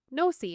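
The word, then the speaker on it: NOC: So they went to Manitoba to catch some belugas, and during this they caught a beluga named Nosy, is spelled N-O-C. Nosy.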